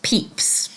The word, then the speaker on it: Pepys: And also, it's pronounced Peeps. It's spelt slightly differently than it sounds.